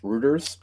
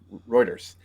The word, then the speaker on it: Reuters: it's from reuer I know Dylan thinks it's pronounced Rutters that because he doesn't know how to read yeah yeah Reuters uh basically you know Reddit filed it for